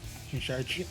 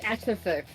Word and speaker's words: action surge: Action charge. You pronounced it wrong. It's action surge.